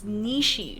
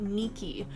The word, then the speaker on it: Nishi: It's Nishi, not Nikki.